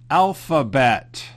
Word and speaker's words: alphabet: Many words in English have PH together and they sound like an F, like telephone, elephant. Can you pronounce this word? That's right. Alphabet.